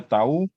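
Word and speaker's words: τ: Pengembangan dari Rang-Sparman disimpulkan dengan itu kayak huruf apa itu, huruf T, bacanya tau, ya.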